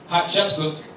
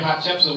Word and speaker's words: Hatshepsut: why we don't hear Hatshepsut. When I say her name, people say, did you sneeze?